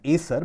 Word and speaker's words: ASER: Now, this article follows the ASER report, also pronounced as ASER, but actual pronunciation is ASER.